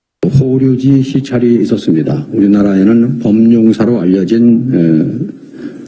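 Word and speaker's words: 法隆寺: 우리 발음으로는 법륜사인데 일본 사람들은 이걸 호류지 이렇게 발음합니다.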